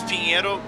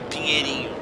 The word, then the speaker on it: Pinheiro: Give us the Yeah, proper actually, it's Pinheiro, but some say Pinheirinho, which is the more Brazilian pronunciation. It's not Portuguese, it's more us Brazilians how we call the corner name.